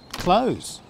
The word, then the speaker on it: clothes: The easy way, just say the opposite of open. Close. For example, where'd you buy those clothes?